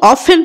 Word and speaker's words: often: आई ऑफ्ट ये जो OFTEN अच्छी एटा को ऑफन पढ़ाबो कारण टी टी साइलेंट अच्छी।